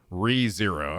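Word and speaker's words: Re:Zero: Is it pronounced ReZero or is it like RE0? Or ReZero? ReZero, okay.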